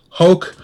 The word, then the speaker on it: Hoek: his youtube channel i believe it's just Adam hoek h/o EK i believe it's actually pronounced hoke huh but we hook yes that's right but